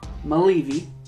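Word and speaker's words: Mulleavy: slip yep written directed by Kate and Laura Mele V and that's how you pronounce her last name it would shock starring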